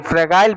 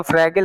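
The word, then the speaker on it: fragile: They are more फ्रैगाइल, फ्रैगाइल पढ़ो बेटा, इसको फ्रैगिल फ्रैगिल नहीं पढ़ते हैं, pronunciation should be very correct बेटा।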